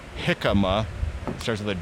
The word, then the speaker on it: jicama: Jicama. That comes from a tree, I thought. Yeah, they're saying it's hakuma. That Greek sandwich that people mispronounce.